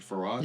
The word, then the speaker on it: Fard: Fard, did you pronounce it Farad? Yes, Master Fard.